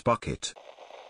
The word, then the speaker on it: Bucket: accessories on public transportation pronouncing your last name as bouquet evo its bucket the whole middle east